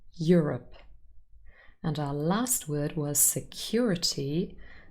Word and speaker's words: Europe: the end manicure cure europe has two syllables the first syllable contains your rep europe and our last word